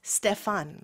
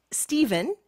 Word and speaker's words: Stefan: The German pronunciation is Stefan, right? Stefan. Yeah, Stefan. Okay. But it's Stephen in Absolutely. English, I guess.